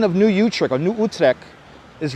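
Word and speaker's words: Utrecht: Dutch settlement of new utre and notice how I'm pronouncing utre correctly not I'm not not calling it utre that's how we pronounce it here in Brooklyn e it's correct pronunciation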